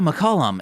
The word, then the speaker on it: Mullum: last name though yeah mullum it's at the end of every single podcast every n again I forget that mullum rhymes with McCullum like that and I'm